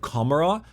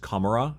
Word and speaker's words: Commorragh: I think it's just Commorragh. I think you ignore the G.